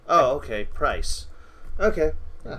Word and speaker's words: Price: His name is Price. Oh, Bryce. Price. P-R-I-C-E. Yes. Oh, okay, Price.